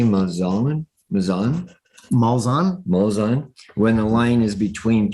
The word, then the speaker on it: Malzahn: Malzahn.